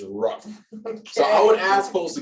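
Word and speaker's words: WRUFF: for um and so when you abbreviate what are you famous for that's w-r-u-f-f would you spell it out is rough so i would ask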